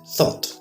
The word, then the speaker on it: thought: First, let's look at thought. Can you say it with me? Thought. The th H is pronounced o u s o and the gh is represented by t.